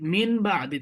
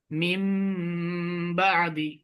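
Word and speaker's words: مِنْ بَعْدِ: যে এই বা আসছে, এই জন্য এই নুন সাকিনটা মিমের মতো উচ্চারণ হবে। কার মতো উচ্চারণ হবে? মিমের মতো উচ্চারণ। এখানে ছিল নুন, মিন বা আদি, কিন্তু হবে কি? মিম বা আদি।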